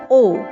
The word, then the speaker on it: を: Even though we write it as wo, we usually pronounce it simply as o.